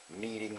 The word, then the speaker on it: kneading: And this is what they call kneading the dough. And it's kneading spelled with a K-N.